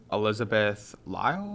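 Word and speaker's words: Elizabeth Lail: Elizabeth Lyle, I believe it's pronounced.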